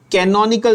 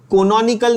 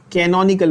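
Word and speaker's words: canonical: कैनोनिकल structure क्या बोलते हैं बच्चों, कैनन, कैनन का कैमरा होता है ना, ऐसे याद रखना, कैनन, कैनोनिकल, also called contributing structure.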